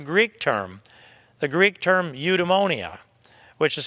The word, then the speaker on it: eudaimonia: lifted from the Greek term the Greek term eudaimonia which is spelled EU de tu da mo ni a because we're friends Christi and eudaimonia the Greek term means pursuit of happiness in